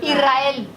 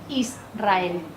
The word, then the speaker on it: Israel: erre detrás porque porque si yo no hago una mini pausa entre la s y la r no digo bien la palabra pronunciar israel sin pausa como nosotros lo decimos israel si yo digo una